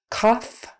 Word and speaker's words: cough: So just like the last one, only this time the GH spelling is kind of turning into an F sound. So it's kind of like O-F-F or off, A-H-F, however you want to spell it, off.